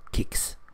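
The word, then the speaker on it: Kiks: and they call them Kix. They say K despite its being a soft vowel afterwards, and that actually makes me think a lot.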